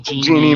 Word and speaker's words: Jeannie: So the G in Genie, me, it rhymes with me on Lean on Me, Jeannie Marie.